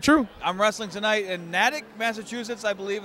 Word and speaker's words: Natick: I'm wrestling tonight in Natick, Massachusetts. I believe it's how you pronounce it. It's Natick. Natick. I thought it was Natick, and I heard.